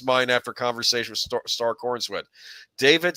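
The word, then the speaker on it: Corenswet: First, it kind of elevates Corn Sweat. See, that's the way it's spelled.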